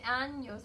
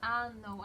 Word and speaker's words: años: I said like 20 years old, but in Spanish like years old is in años, but I mistakenly pronounce ano, and I make them laugh to die.